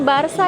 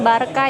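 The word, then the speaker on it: Barça: Iya, bacanya Barsa ya, Guys. Jadi orang-orang Spanyol ini bukan Barka ya, tapi mereka biasanya bacanya Barsa.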